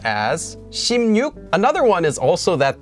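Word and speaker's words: 십육: that are made related to numbers for example ship yuk for 16 is actually pronounced as shim yuk another one is also that the months for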